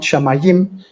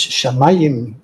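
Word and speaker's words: שמים: It's not shamayim, it's shamayim in Hebrew.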